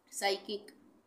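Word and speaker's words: psychic: ये है साइकिक, इसको हम पी साइकिक नहीं बोलेंगे, पी साइलेंट हो जाएगा, साइकिक।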